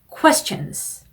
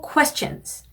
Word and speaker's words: question: Q가 들어가는 단어는 Q 발음으로 하시면 발음이 이상해져요. 그러니까 Q 발음으로 question 이러면 발음이 이쁘지 않은 발음입니다. Q가 들어가면 발음은요, 이런 발음을 해주셔야 돼요. 그래서 equipment 아니고 equipment 그리고 question 아니고 이렇게 시작하라 그랬죠? question 이렇게 Q 들어가는 단어들이 발음을 신경을 써주셔야 되는 단어들이에요.